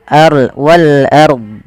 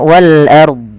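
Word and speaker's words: والأرض: Dya ini kesalahan Nah kalau kita waqaf pada lafal ini lafal Wal ARD itu harus dibaca dnya ada kebanyakan kita tidak membaca Nah ini salah yaitu wal wal Ar Wal ARD Ah tidak ada bnya Harusnya Wal ARD Wal ARD ah Dya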